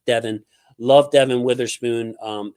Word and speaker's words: Devon: man love I love Devon Witherspoon spelled Devon but pronounced Devin love Devon Witherspoon um